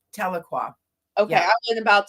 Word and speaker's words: Tahlequah: So, and it's Tahlequah. Okay, Yeah. I wasn't about to butcher the name of that.